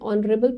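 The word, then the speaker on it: honourable: एन आर H again silent है। एन ऑनरेबल principal.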